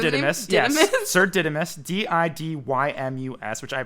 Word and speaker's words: Didymus: Sir Didymus, Didymus, which I pronounced right on the first try, which Yeah, is you good for me.